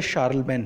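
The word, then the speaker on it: Charlemagne: French king मेहश चेयरमैन spelling जो है चार्ल्स मैंने लिखते हैं बट पढ़ते शाल बे इन है तो उसका टाइम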